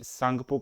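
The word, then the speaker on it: Tsangpo: इसको तिब्बत में सांगपो कहा जाता है, टी इज साइलेंट हेयर, और ये इंडिया में घुस जाता है कहाँ से?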